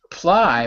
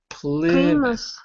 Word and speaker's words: Plymouth: Not Ply, but Plymouth.